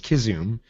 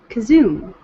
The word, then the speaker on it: Kazum: Yes, well, not Kazum, but it's Kizum. But yeah, with a soft it hmm? with a soft K. Soft K. Kazoom, Okay. not a hard K.